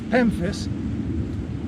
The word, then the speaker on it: pemphis: near the water's edge this is pemphis rhymes with memphis but it starts with a pea and i want to